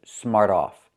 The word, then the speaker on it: smart off: Pronunciation, smart off. When you say it together, the T changes to a fast D.